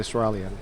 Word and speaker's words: Israelian: I've been pronouncing it Israelian.